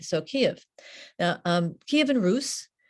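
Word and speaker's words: Kyiv: i'd say the tale of bygone years um kiev right here that's the ukrainian pronunciation which we now know um was the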